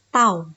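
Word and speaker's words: τ: Ya, kita bacanya adalah tau ya.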